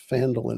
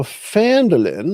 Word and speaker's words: Phandelver: can find the right Phandelver map here, so we can share that one there. So Phandelver or Phandelver, you can pronounce it either way.